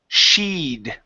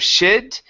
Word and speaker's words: she'd: And your last one is sheed. Okay. Long e sound here instead of shed.